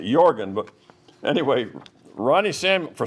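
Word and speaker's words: Jørgen: relative that came in his first name was jorgan j o r g n but the Norwegians pronounce it jorgan but anyway Ronnie Sam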